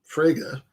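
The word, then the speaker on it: Frege: them honestly fair enough uh so speaking of fraga uh of who fraga got club fraga bless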